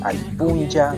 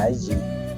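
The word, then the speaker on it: alli: lógica sería a a allí. al y más o menos así, pero se pronuncia se pronuncia solo con una L.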